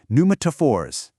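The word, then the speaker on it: pneumatophores: The P is silent. Try saying it. Numaphors.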